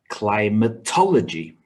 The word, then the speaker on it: climatology: the second one majority the next has five syllables with stress on the third syllable climatology and the last example